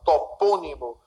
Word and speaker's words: topônimo: A primeira se acentua por ser proparoxítono, é verdade, olha, topônimo, antepenúltima sílaba é a mais forte.